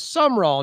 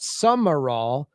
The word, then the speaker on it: Sumrall: Please let Corey know that the Tulane coach is Sumrall, not Summerall. He is pronouncing his last name with 2 A's, not one.